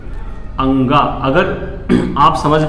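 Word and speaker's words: ङ: अगर आप समझ पा रहे हो तो इसका उच्चारण क्या है?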